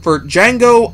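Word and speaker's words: Django: the trailer for for D Jango Unchained the D is silent as the movie lets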